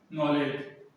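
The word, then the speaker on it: knowledge: Example देख लो, नॉलेज, इसे क्या बोलते हैं, नॉलेज, ठीक है।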